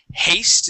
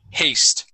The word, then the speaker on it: haste: All right, this word is haste instead of hast. It is haste.